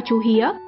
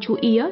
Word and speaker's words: chú Ía: này thành ngã ba chú Hía. Qua năm tháng, phát âm này dần biến mất chỉ còn chú Ía cho đến nay.